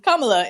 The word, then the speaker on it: Kamala: yeah is it kamala it's kamala in in uh south asian names tend to put the emphasis on the first syllable so yeah i like